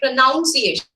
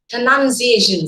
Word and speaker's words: pronunciation: oh you endure but when you change it into the noun form that o will not be there in you so some people say pronunciation that's wrong absolutely wrong okay pronunciation say this you should